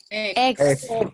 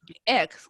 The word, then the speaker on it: eggs: Eggs. Perfecto, súper bien, ¿sí? Eggs, como que ahí marcamos, ¿cierto? Un poquito la G de guru guru, ¿cierto?